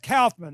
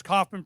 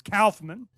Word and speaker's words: Kaufman: dr andrew kaufman now it's pronounced kaufman i just want to make sure everybody knows